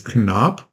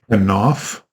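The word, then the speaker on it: כָּנָף: The word there in Hebrew is kanop, or kanof. It's spelled with a P, but I believe it's pronounced kanof.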